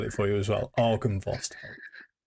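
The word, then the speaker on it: Argynvost: Argan Vost. So is that the Silver Dragon place? Yes, this is as it sounds really. Argan.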